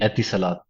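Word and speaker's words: Etisalat: engineer in test uh geez how do you pronounce the the company namea uh yeah it is it is actually atis Salat a Salat okay in the UAE yeah very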